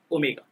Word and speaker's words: omega: This symbol is pronounced as omega.